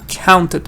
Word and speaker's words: counted: cooked counted goods are counted money now this is the one that gets an extra syllable counted counted also you might hear count